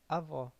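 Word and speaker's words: avó: sounding as o okay when the letter o sounds like o o in the end of a word it keeps sounding as o okay for example we have do me we spell it as domino fastly or usually we say domino domino in english domino another example fastly or usually we say avo avo avo that means grandmother alright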